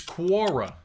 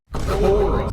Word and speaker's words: Quora: And I said to her, "You stupid bitch, it's Quora, not Quora."